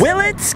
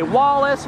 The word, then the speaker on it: Willits: Mainly because no one can seem to pronounce Willits. They say Wallace, Willis, Phillips, Williams, but not in this town.